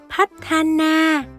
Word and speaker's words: พัฒนา: Từ này đọc đúng chính tả là hách, thá, na, nhưng trong văn nói, người Thái sẽ nói nhẹ lại thành Pathana, nghĩa là phát triển.